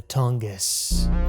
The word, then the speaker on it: Tungus: the wendigo of the tongus tongus tongus tongus it's pronounced tong us but fast tongus tongus the window i'm tongue ass of the tongas tungus tungus tungus okay by